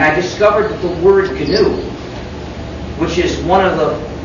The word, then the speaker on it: GNU: Anyway, when it's the name of our operating system, please pronounce a hard G. Pronounce it GNU.